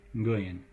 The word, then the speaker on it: Nguyen: The name, if you've seen Nguyen, I don't have good Vietnamese pronunciation, but it's something like Nguyen, where the first sound is ng.